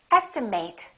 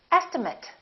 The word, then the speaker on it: estimate: can be a verb in that case it's pronounced as estimate i would like to estimate the cost of this or estimate if it's a noun please give me an